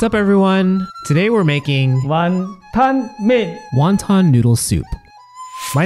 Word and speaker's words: 云吞: In Cantonese, wontons are pronounced wonton, which roughly translates to swallowing a cloud.